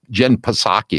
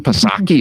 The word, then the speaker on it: Psaki: When people think Jen Psaki, excuse me, I mispronounced it. Jen Psaki is smart.